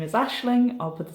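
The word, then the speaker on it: Aisling: here how to actually spell it but it's pronounced Ashling uh my little dog Morgan is here with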